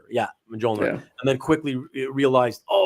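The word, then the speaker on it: Mjölnir: And the J silent letters, Y's, and all that stuff, whatever.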